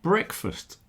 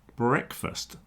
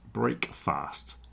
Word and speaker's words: breakfast: And it's pronounced breakfast, not break fast as it probably was hundreds of years ago.